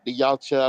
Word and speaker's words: Yautja: You see female versions of the Yautja, I believe is how you pronounce it, and they're way more deadly than the men in certain degrees.